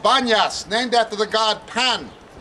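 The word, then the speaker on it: Banias: this place is called Banas named after the god pan Muslims Arabs can't pronounce the difference between p and B so they call it Banas but it was should have been pasas from the god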